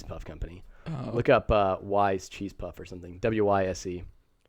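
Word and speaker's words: Wyze: Wise. Wise, not ways. As far as my understanding, that's how you pronounce it.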